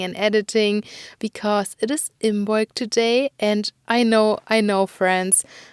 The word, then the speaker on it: Imbolc: I have been filming and recording and editing because it is Imbolc today. And I know, friends, some of you said that it is pronounced Imolc, I guess, because you said the B is silent.